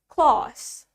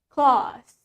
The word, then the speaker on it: claws: Well, in British accent, the A is longer. Pronunciation A-nya lebih panjang. Claws. Claws. Let's say it with me. Claws. While in American accent, sedangkan di aksen Amerika, the A is shorter. Huruf A-nya lebih pendek. Claws. Claws.